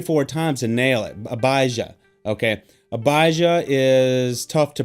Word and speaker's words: Abijah: a priest named Zechariah of the division of Abijah Abijah Abbas Abaza okay some of these tell